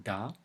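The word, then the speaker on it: да: world day is Jean so da it's a hard deal Jane it's a certainty there isn't it soft because we have to let her hear yeah makes the sound softer the me arc is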